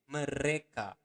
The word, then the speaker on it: mereka: Remember to pronounce the R um, clearly. Mereka. Okay, re. Mereka makan.